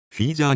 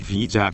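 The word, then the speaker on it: ヒージャー: は最初の言葉フィーじゃあについてです沖縄の方言でヤギのことを p じゃあと発音しますそして土居を使っ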